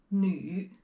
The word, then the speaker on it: 女: And this character, the pronunciation is 女, 女, 女.